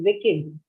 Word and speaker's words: wicked: of the words right most of the words that end in ed we pronounce it as one sound right called yes yes right that's why also doing weak but there are some exceptions again English is full of exceptions also Wicked in two syllables with kids with